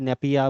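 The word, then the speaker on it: Naypyidaw: तो यहाँ पर म्यांमार, नेपाइदा, है ना, कुछ अजीब सा नाम इसका मिलेगा प्रोनाउंसिएशन में, अलग अलग नेपिंदे बोल देते हैं, कोई नेपिया बोल देता है, तो ये नेपिंदा।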